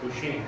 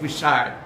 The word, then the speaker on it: Bouchaine: Bouchaine. Bouchaine, thank you. What did I say? Bouchard, my fault.